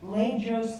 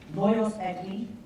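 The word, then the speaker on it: Lajos: use is from um the writer's name is not pronounced this way but it looks like language agree it's a hungarian name it's actually loyal but it looks like blajo's angry the art of dramatic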